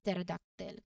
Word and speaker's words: pterodactyl: Now for the P before T, consider pterodactyl. This word literally means wing finger, referring to the dinosaur that initial P is silent before the letter T. It's pronounced as pterodactyl.